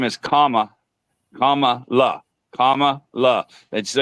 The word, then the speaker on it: Kamala: Well, her name is Kamala. And so you remember like the punctuation, and comma.